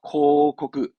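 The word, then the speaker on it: 広告: 코코크. 코코크. 경찰의 경자 아닙니까? 경고합니다. 그렇죠? 케이코크. 케이코크. 그렇죠. 보고. 보고서의 보고.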